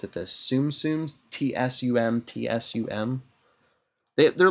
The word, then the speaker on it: Tsum Tsum: How do you pronounce it? This Tsum Tsums, TSUM.